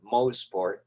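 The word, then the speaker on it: Mosport: it's like being at mo sport that's the proper way of pronouncing it for all our american friends it's not moss after sterling moe's sport after motor sport right or as we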